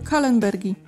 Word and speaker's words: kallenbergi: W nazwach naukowych, jeśli któraś nazwa wzięła się od nazwiska, to wymawiamy tą nazwę tak, jakbyśmy wymawiali ją w oryginalnym języku. Czyli w tym przypadku po niemiecku. Także wymawiamy to jako tiltokatl kallenbergi.